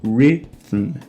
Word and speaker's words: rhythm: E aqui fica um pouco difícil da gente pronunciar tudo junto, porque a gente já tem o R retroflexo, um I curto, um T forte e terminando aqui com um M mudo. Então, rhythm, rhythm, rhythm.